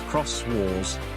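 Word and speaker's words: Xros Wars: Digimon Fusion, known in Japan as Digimon's Rose Wars, Digimon Kurosu Wasu, pronounced Cross Wars, and also titled as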